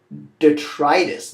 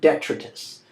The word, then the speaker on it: detritus: next thus where does pronounced detritus not d'etre kiss detritus is waste and